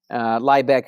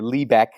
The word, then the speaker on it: Liebeck: find that documentary fascinating Liebeck V McDonald's course or Lee Beck you're in here pronounced both ways I believe that's the